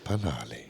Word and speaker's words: Lephalale: Lephalale. Yeah. That's how you pronounce it.